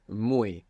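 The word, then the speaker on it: muy: she is very attractive the word for very Is mu and it's spelled muu y the Y you can imagine it like an I mu good so she is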